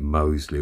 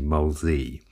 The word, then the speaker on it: Molesey: i'd like to just quickly correct the uh pronunciation of mine in my last video uh i've always been calling it moseley all my life and it's actually molesy mosey so um i do apologize about that